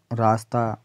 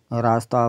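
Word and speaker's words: راستہ: की रह जाती है जिस को सिर्फ लिखा जाए तलफ्फुज यानी उच्चारण में शामिल ना किया जाए यानी इसको उच्चारण में शामिल ना किया जाए जैसे रास्ता फरिश्ता यानी अलिफ की आवाज इसमें आएगी है कि नहीं आएगी अलिफ आएगी यानी उच्चारण में यह शामिल नहीं होगी रास्ता फरिश्ता अफसाना दर्जा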